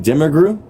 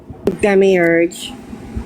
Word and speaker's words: demiurge: Demigr Demiurge.